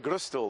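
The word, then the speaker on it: Gröstl: for the first time guru still am i pronouncing good stole the right way yeah it's the right pronunciation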